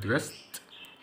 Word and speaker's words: dressed: dressed قبلها اس تنطق تي، فدي هتبقى dressed. walked قبلها كي هتنطق تي برضو، او ليه walked.